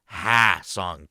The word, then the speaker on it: Ha-seong: difference in their name being pronounced h song Kim and haong Kim which Kim would you prefer